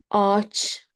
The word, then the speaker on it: ağaç: Yumuşak G, ağaç, yumuşak G, ağaç, ağaç, tree, ağaç, tree.